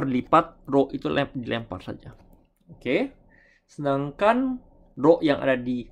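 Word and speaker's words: を: Oke. Dan untuk pengucapannya bukan wo, bukan wo, tapi lebih ke huruf o ya. Hanya o saja. Bukan wo.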